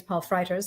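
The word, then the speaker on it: Paul Frijters: Michael uh by the way his name is Paul freiters that's how you pronounce that and Michael Bay I knew that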